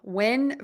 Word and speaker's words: when: question when versus Wing the n sound that ends the word when you are going to touch the back of your top front teeth where your teeth meet the skin on the roof of your mouth for that n Sound